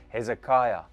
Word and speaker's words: Hezekiah: the next one the seal impression of King ezekiah some of you might pronounce it Hezekiah you know the king who lived righteously before